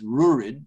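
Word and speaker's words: Ruairidh: of course that's what the chief's name is Rod is rurid but that's the gallic name version of uh of um uh Roderick that's the galley and of course it's spelled many different ways and that's why I think they often very often will shorten it to Rory because it sounds more like rurid you know it sounds more than Roderick does like it it's sort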